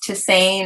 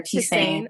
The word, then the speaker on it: tisane: So that's pronounced tisane or tisane.